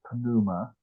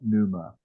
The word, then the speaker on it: pneuma: I learned these things when you have uh consonants even when they go together like that you still pronounce the the two of them together so it's panuma not pneuma right uh and um